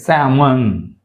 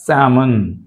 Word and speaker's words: salmon: Salmon, L silent. Salmon.